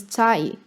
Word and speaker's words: 才: The Middle Chinese pronunciation was cai. This becomes cai in Mandarin, sai in Japanese, che in Korean, toi in Cantonese, and dai in Vietnamese.